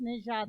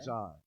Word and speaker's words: Nejad: It's Nejad, like treasure. Nejad.